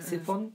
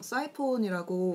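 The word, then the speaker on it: siphon: 그런 뭐 드립 에어프레스 시폰? 시폰 맞아요. 시폰 뭐 쓰는 사람이 이제 많나요? 시폰이 사이폰이에요. 사이폰이라고. 아 사이폰. 약간 발음 좀 달라서 저도 처음에 시폰이 뭐지 이랬는데 사이폰은 그 커피 기구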